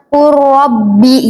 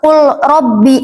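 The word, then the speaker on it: قُلْ رَبِّ: Lam ketemu ro. Jadi langsung ke nyebutin huruf ro aja. Qurbi gitu. Qurbi. Enggak usah qul rabbi, enggak usah qul rabbi ya. Jadi silamnya ini enggak usah disebut nih, Teman-teman. Langsung ke ro urbi gitu.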